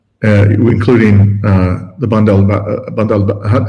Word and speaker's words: Bab el-Mandeb: Uh just again, the correct pronunciation is Bab el-Mandeb.